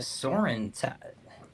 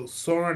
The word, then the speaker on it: Sauron: Well, Why it does this- almost looks like the Soren. That's not his name. How do you say the guy's name? Sauron.